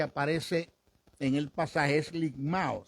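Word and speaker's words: λικμάω: El término, el desmenuzar del griego, es ligmao. Ese término que aparece en el pasaje es ligmao. Se escribe L-I-K-M-A-O, ligmao. Es el resultado que se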